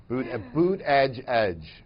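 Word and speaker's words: Buttigieg: Biden I can never say his name right Buddha gig the gentleman the former mayor and and now never head are the sort of perceived moderates boot boot edge edge okay these folks will compete with each other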